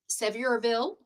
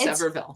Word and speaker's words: Sevierville: from the Cherry Pit Shop in Sevirville. No, it's not. It's Severville. Severville. Okay, there you go. Or I'll leave I'll leave out the I Seville. Or is it Severville?